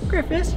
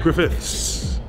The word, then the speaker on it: Griffiths: griffiths where is she griffis you know right griffiths you have to pronounce the s yeah she's amazing i'm